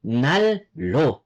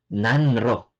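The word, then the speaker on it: 난로: ng R or L ang magiging pronunciation niyan ay magiging parang double l yung neon mo ay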